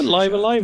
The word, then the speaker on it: Live A Live: to considering I was laughed after calling it live a live it's probably the other one good luck with